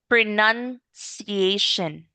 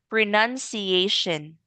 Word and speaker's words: pronunciation: My vocabulary and pronunciation are improving. Pronuniation pronuniation. Okay, one more time. Ho. Pronunciation.